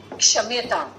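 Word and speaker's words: क्षम्यताम्: It is க்ஷம்யதாம். It is not ஷம்யதாம். Okay? இக்கு ஷாவும் சேர்ந்திருக்கு. Ik and sh together, the samyuktakshar becomes ksha. So kshamyatam.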